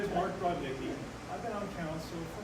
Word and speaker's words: Brodnicki: Is it pronounced Brodnicki or Brodnicki? Brod? Brodnicki.